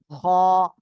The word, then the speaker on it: خ: পড়তেছিলাম সেটা কি ছিল গলার শেষ ভাগ থেকে খ অক্ষরটি উচ্চারণ হবে খ এরকম একটা আওয়াজ হবে নেহা কোন দিকে তাকাচ্ছেন